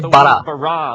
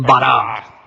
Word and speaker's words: bara: La palabra crear se dice bara. Repitan bara. Es una palabra contundente, llena de energía, de crear cosas. En un principio, Elohim bara los cielos y la tierra.